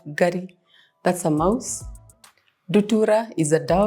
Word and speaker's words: Ngari: So we have to take about the pronunciation. This is called Ngari.